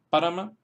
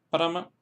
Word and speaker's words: Parama: La segunda fila tenemos ejemplos en los cuales se acentúan en la primera sílaba porque la segunda sílaba es corta.